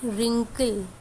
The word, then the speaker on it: wrinkle: Wrinkle, we are pronouncing it wrinkle, so it is starting with R, right?